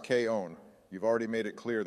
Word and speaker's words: K-On: your favorite girl in K on actually Donald it's pronounced K own you've already made it